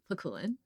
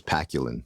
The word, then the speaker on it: Pakulin: She used to think it was Paculin. Yeah.